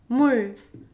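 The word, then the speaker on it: 물: Mul. Mul. Mul. It's not mul. You don't extend it, but you just simply stop right before trying to make l sound. So mul, not mul, but mul.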